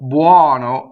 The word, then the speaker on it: buono: Now, when you say buono, the stress is on the O, and that O is open. But when you say buonino, it is an unstressed O, so it is closed.